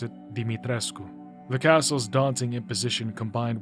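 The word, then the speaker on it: Dimitrescu: Finally, back at the lever that opens the gate to Castle Deitrescu, Deitres, Dmitres, Dimitresco. I looked it up. Apparently, you're supposed to pronounce it Dimitresco.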